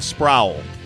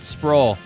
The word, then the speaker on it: Sproul: nothing says also my last name is like Sprout with an else sprawl Sproul is that how we're pronouncing it yeah he's saying it's not sprawl you're so swole though